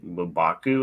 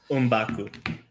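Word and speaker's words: M'Baku: probably going to be mubaku is how you say his name umbaku yeah that is the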